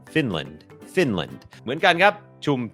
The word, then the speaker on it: Finland: เป็น คอร์ส ฝึก ออก เสียง ฟินแลนด์ อ่าน ว่า finland finland โอเค อัน นี้ บ่ง บอก ว่า จำ ได้ ม อัน นี้ ก็ เน้น พยางค์ ขึ้น สูง ฟิ Fin ิ พยางค์ ไม่ เน้น L finland finland เหมือน กัน ครับ ชุม ชน ครับ community